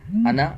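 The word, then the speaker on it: أنا: अना ये लिखा जाता है अना। अलिफ के साथ लेकिन पढ़ा जाता है अना। अलिफ नहीं पढ़ा जाता। अलिफ साइलेंट है। सिर्फ यहां पर ही है। अना के अंदर ही अलिफ साइलेंट होता है।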